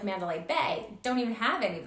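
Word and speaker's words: 八: important in Chinese culture the number eight or ba is a lucky number because it sounds like the word fa which means Prosperity the number six symbolizes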